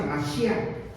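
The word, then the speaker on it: משיח: Así se pronuncia, Mashiach.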